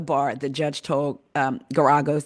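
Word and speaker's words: Geragos: The judge told um Guragos, that's how you say it, Gagos in a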